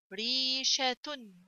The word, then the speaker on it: ريشة: Ra kasra ya. Re. Sheen fatha sha. Ta ضمتان تن. ريشة. ريشة.